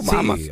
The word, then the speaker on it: Bahamas: ¿Cómo se dice? ¿Bahamas o Bahamas?